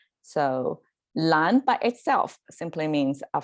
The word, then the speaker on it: 烂: together with the fire on the side and pronounced as a lan that means colorful um so it's almost like